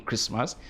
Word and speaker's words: Christmas: one thing is that there must be tea in christmas uh do although in pronunciation the tea is silent very importantly if not